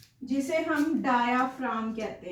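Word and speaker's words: diaphragm: जो rib muscles है ना, इनके नीचे एक थिक मस्क्यूलर स्ट्रक्चर होता है, जिसे हम डायाफ्राम कहते हैं. इसके अंदर जो जी है दैट इज साइलेंट.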